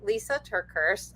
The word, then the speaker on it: Lysa TerKeurst: So, Lisa Turkers. Um my name is spelled L YSA.